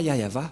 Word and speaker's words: Yahvah: exemple vous êtes pêcheur si vous ne prononcez pas yayava vous êtes directement un pêcheur si vous dites que